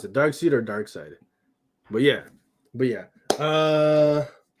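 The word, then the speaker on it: Darkseid: one for you folks is it dark seed or dark side that's not a question it's dark side yeah dark side i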